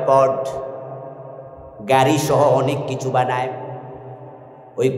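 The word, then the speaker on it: Ford: কোম্পানির নাম হলো প্রড ওই আর্টটা সাইলেন্ট থাকে তাই উচ্চারণ হয় পড গাড়িসহ অনেক কিছু বানায়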